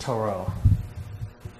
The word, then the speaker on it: Tarot: Tarot. That's how it's spelled. Well, where does it come from? Actually entered English from the French. And the word is pronounced Tarot.